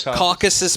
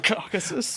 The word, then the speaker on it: Caucasus: pronounce this word here caucuses caucasus mountains there you go caucuses like caucasian how do you not